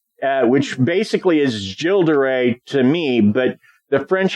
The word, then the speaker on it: Gilles de Rais: I specifically looked up uh the way to pronounce it and it's uh which basically is jilderay to me but the French have a way